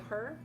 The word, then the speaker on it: Hu: The Her? Is that how you pronounce it? Who? It's not the Who. Like that's The all I Who? know. It's spelled HU, but it's like the Her.